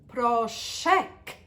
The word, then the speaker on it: proszek: to the washing machine, please make sure to pronounce the last letter, proszek, because otherwise I might be thinking, what are you asking me for?